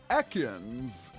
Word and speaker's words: Ekans: And for some reason, the announcer pronounces it Ekans, but in the dub it's pronounced Ekans.